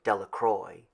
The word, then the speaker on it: Delacroix: Bobby and Harry Jones and Dickie Delacroix, the villagers pronounced his name Delacroix, eventually made a great